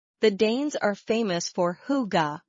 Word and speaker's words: hygge: The Danes are famous for hygge, pronounced hygge.